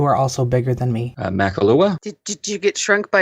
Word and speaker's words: Makahlua: I mean, it's like people have never heard of a silent H before. Or I've never heard of Kahlua. Or they don't recognize it because of the ma before it.